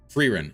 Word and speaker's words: Frieren: Frieren. I see. Is how it's pronounced.